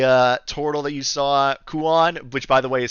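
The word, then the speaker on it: Kuon: up uh the uh total that you saw Kuan which by the way is spelled k-u-o-n because I know y'all were I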